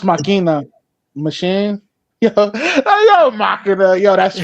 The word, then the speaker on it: Machina: It's pronounced Machina.